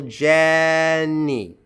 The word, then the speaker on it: Jenny: And then Jenny, stress on the first syllable. Jenny.